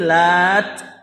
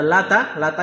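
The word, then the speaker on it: اللات: Ya, ini Lat. Pakai tasdid, Lat. Karena ada 2 cara baca, ada Lata yang maklum lah. Ada satu lagi Lat pakai tak biasa.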